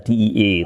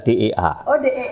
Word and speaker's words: DEA: yang paling aneh karena belakangnya itu dibacanya the teman-teman terbiasa dengan Anglo saxon membaca di tapi yang betul itu dibacanya adalah Dea Iya ke namanya juga saling